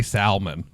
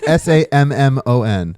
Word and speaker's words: salmon: heard anyone say salmon. Ever. SALMON. Yeah, I Salmon. can spell salmon. No, you're saying SAMMON. No, I'm pronouncing it how it's pronounced.